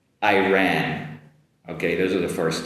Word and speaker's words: Iran: My first are two countries that are similar uh in sounds and the first one is going to be uh Ireland, Ireland compared with Iran Iran. Ireland Iran.